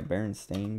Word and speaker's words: Berenstain: correct pronunciation or spelling is it the stain one yeah Baron stain Bears basically uh that's the